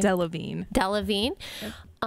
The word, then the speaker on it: Delevingne: Delevingne.